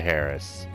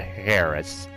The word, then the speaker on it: heiress: Father died 3 days later, and I became the heiress. The heiress. Not the Harris. The H is silent.